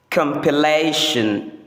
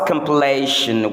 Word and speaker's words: compilation: Number one, the first word there is often mispronounced as compilation because the verb form is compile. But the correct pronunciation according to the standard is compilation. Compilation. Our results compilation will start next week.